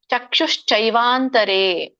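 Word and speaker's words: ಚಕ್ಷುಶ್ಚೈವಾಂತರೇ: ಹ್ಯಾನ್ ನ ಕೆ ವ್ಯಂಜನ ಚಕ್ಷುಶ್ಚೈವಾಂತರೆ ಕ ಕೆ ಷ ಒತ್ತಿದೆ ಚಕ್ಷು ಶೈ ಚ ಕೆ ಚ ಹೊತ್ತು ಐವತ್ತು ಇದೆ ಶೈ ಅಂತ ಹೇಳ್ಬೇಕು ಷ ಕೇಳಿಸಬೇಕು ಚ ಕೇಳಿಸಬೇಕು ಐ ಕೇಳಿಸಬೇಕು ಚೈ ವಾಂತರೆ ಭ್ರುವೋ ಅರ್ಥವನ್ನ ಆಮೇಲೆ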